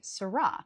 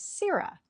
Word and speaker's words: sirrah: They say sarra. But Shakespeare's verse itself tells us that the emphasis falls on the first syllable. The standard American pronunciation of this word is Sira.